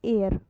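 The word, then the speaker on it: heir: ये क्या है, क्या बोलेंगे इसको, इसको बोलेंगे हम एयर। हालांकि यहाँ एच आया हुआ है लेकिन इसकी प्रोनाउंसिएशन क्या होती है, एयर होती है।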